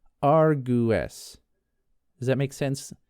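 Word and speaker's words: argẃes: So A R G W accented E S is pronounced argu. Does that make sense? So the W is like its own ooh sound.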